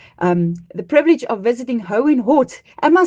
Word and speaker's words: Hohenort: You guys rolled out the red carpet when we had the um the privilege of visiting Hoehn Hott. Am I saying it right? Hoehn Hott?